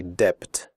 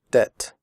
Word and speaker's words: debt: traded fitted noted debt in the word debt the B is silent we do not say depth we say debt comfortable the word comfortable